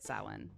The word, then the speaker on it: Samhain: gay like it does it's pronounced differently than what it's spelled small brain now i